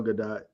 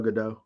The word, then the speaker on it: Gadot: I like how you call her Gal Gadot. I think it's Gal Gadot. Whatever, it's Gal, okay? I think you're right on the first part. You put the emphasis on the wrong syllable.